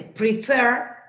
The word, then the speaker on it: prefer: En el caso de prefer, ¿sí? Se dobla porque es la segunda la acentuada, preferred. En el caso de visit, no se dobla porque el acento está en la primera sílaba, en visit.